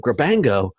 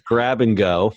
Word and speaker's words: Grabango: So I'm reading the script here, and when I was reviewing it last night, I kept saying Grabango. Oh, it's Grab and Go.